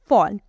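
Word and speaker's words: fall: करते हैं वैसे ही फॉल लिखा तो ए है लेकिन हम क्या बोलते हैं हम बोलते हैं फॉल यही बोलते हैं तो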